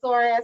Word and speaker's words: psoas: That's why I say they are right when they called it the sore ass muscle. Wow. But it's spelled PSOAS muscle. Look it up.